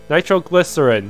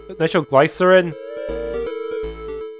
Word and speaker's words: nitroglycerin: the way to go it's a short e sound nitroglycerin not nitro twice nitroglycerin Lutheran I remember